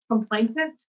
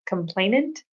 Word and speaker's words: complainant: Complaintant. But there's not an extra T. Complainant because there's not another T in there.